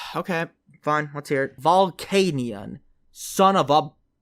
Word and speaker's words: Volcanion: want to know okay fine let's hear it volcanion son of a oh god how do i pronounce illumise illumises illamise illumizay got it right